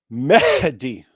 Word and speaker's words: Mehdi: It's Mehdi.